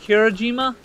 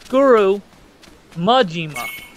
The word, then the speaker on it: Majima: Oh, and also, I noticed that I was saying, remember that guy I called Kirajima? It's Guru Majima. Guru Majima. Close enough, I guess.